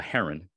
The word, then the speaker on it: Hjeron: the water bird, a Hjeron. And even though your name is not spelled the same way, it is pronounced as it is, you know, the actual bird.